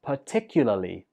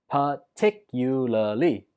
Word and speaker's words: particularly: enthusiastic student eight is particularly particularly stress goes on the second syllable particularly the traffic is